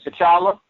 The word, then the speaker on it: T'Challa: I forgot how you pronounce his name. You teacher or you. Each or something. T'Challa?